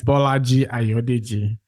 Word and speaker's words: Bolaji Ayodeji: Yeah, it's Bolaji Ayodeji.